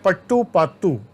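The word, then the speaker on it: पट्टुपाट्टु: एक ग्रंथ है पट्टू पात्तू, PATTU, पढ़ते हैं पट्टू पात्तू।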